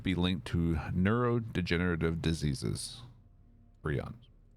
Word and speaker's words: prions: Can't remember the correct way to pronounce that. I think it's prions, which are known to be linked to neurodegenerative diseases. Prions.